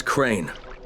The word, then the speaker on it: Crane: no my name is crane crane crane rhymes with train and brain and sign and gray and rain